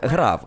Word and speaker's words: grave: Або точніше... "грав", як це вимовляється в оригіналі французькою.